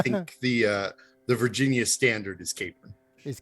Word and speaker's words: Capron: virtual studio with me today, I have Capron. Hello. Hi. I should have asked before we begin, is it Capron or Capron? Both are acceptable. I think the Virginia standard is Capron. Is Capron, yeah, because Virginia has to do everything a